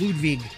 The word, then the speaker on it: Ludwig: The proper pronunciation in German is Ludwig for Ludwig. It's Ludwig.